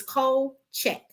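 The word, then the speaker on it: Kulczyk: It's cold check. Okay. It's Polish. K U L is cold. CZ Y K is check.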